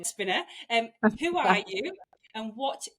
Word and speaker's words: Despina: So for the listeners, for meeting you for the first time, Despina, I said it wrong, Despina.